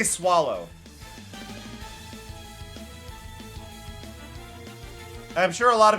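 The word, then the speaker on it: Swalot: I say swallow. I'm sure a lot of people say swallot. But that's swallow to me. That feels like a silent t.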